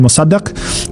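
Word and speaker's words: Mosaddegh: It's led by Muhammad Mosadak um or Mosad depending on how you want to pronounce that.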